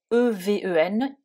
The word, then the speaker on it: even: significations du mot even que l'on écrit donc e V e n i V i n que l'on prononce even euh donc c'est-à-dire que ici le